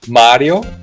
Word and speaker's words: Mario: And what the Americans do is they keep the vowel length of the Italian vowel, because in Italian it's Mario with a long A.